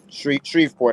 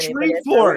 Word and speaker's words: Shreveport: Shreveport, I believe is how they say it. Shreveport.